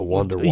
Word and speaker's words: Wunderwaffe: The Wonder Waffle. Yeah, but it's spelled like German, like, so it's like WUNDERWAFFE. Yeah, I think there's an E on there.